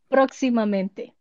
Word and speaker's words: Próximamente: I don't know if you can pronounce the X. Let's try. Próximamente. Eh? Próximamente. Próximamente. Yeah. Yeah. Simple. It's just the X part.